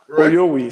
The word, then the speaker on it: Oyovwi: Oyovwi. So the V is silent. I'm thinking the W is silent. The V. So when you silent the V, Oyovwi.